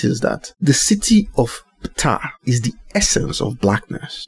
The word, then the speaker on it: Ptah: It's a Ptah, all right? Now, what does that sound like? You know what tar is?